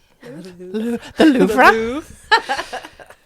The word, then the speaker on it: Louvre: We learned when we did the French degree, you have to stick your lips out a lot farther than feels normal Say it again.